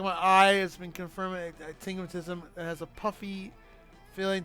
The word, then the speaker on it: astigmatism: Okay, here's how it's pronounced. Astigmatism. Astigmatism.